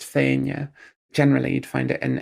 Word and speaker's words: Fianna: In Scots Gaelic, it's pronounced Fianna.